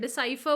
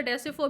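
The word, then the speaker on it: decipher: तो ये जो डी कोड करते हो, डिकोडिंग को हम लोग क्या बोलते हैं, डिसाइफर बोलते हैं, ठीक है। कुछ लोग इसे डेसिफर भी प्रोनाउंस करते हैं।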